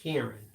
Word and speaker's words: Karan: okay Pam per says Karan is pronounced Karen Karen okay there you